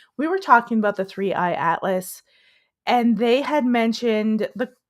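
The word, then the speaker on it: 3I/ATLAS: were talking about the three-eye atlas. I got it right. I said it wrong on Tuesday night. We were talking about the three-eye atlas, and they had mentioned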